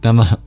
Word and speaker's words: Namah: And at the end of Namaha, you will hear that Visarga being like a mini exhale.